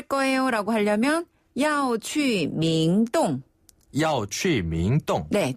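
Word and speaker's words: 明洞: 갈 거예요라고 하려면 야오치 밍동 야취 밍동네 중국 분들은 명동이라고 발음 안 하고 밍동이라고 하거든요네 아 밍동 예 밍동 명동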